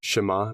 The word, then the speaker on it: Shema: Did I pronounce that right? Shema prayer, yes.